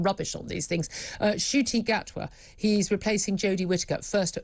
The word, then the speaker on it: Ncuti Gatwa: at all i'm rubbish on these things uh shooty gatwa he's replacing jodie whittaker first female doctor who